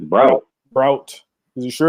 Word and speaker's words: Braut: It's Braut. Braut. Is you sure it's Braut?